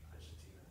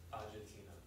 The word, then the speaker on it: Agetina: If I may ask you to pronounce her name for me. Agetina. Say it again. Agetina.